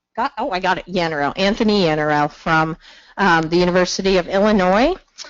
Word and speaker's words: Yannarell: 10, not quite 10 times how to properly pronounce his last name, and I already blanked it. Yannarell. I got it, Yannarell.